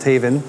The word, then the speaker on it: HAVN: It's pronounced HAVN, not HAVN.